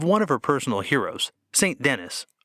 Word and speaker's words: Saint Denis: of her personal heroes, Saint Denis, or, in the more popular French pronunciation, Saint Denis.